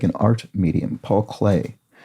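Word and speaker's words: Paul Klee: Paul Clay um is how that's pronounced. And of course, it sounds like the art medium clay.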